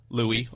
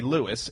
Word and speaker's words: Louis: him and someone asked how do you pronounce the name Louie or Lewis and they go they go into this whole reasoning where they say that he in songs used to say Lewis in interviews they would